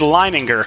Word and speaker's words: Lininger: up we got damian lininger i see i had to ask him a little earlier how to pronounce his name because i've been saying it wrong all season long but it is lining her and and so he